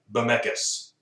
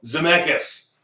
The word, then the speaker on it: Zemeckis: Starts with the Z and it rhymes with Zemeckis. It's not helpful. Zemeckis.